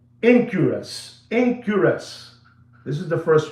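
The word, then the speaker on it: Enquirus: So, that is the first one and it's called Incurus. It's spelled E N Q U I R U S, you know, and you go there and you look at that one.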